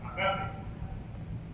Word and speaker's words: ágape: Es lo que llamamos ágape, o bueno, con acento en el alfa, agape.